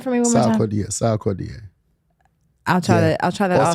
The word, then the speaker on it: Sarkodie: Pronounce that for me one more time. Sarkodie.